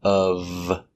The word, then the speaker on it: of: When you say none of, the preposition of is always pronounced relax, of, making the V sound, of.